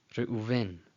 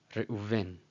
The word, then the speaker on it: Reuven: This is a V and this is a U, just so you know. Reuven. Reuven.